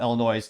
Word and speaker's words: Illinois: or let's call it Illinois to insult them or kind of backhanded. Spoiler alert, if you're actually from the Midwest, they pronounce it Illinois, but if you're not, most people call it Illinois.